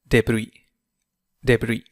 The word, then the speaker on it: debris: Engine debris هو الحطام debris إس لا تنطق.